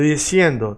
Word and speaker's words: diciendo: Now, what I want you to do is not be behind the teeth and not be under the teeth. Just be hovering.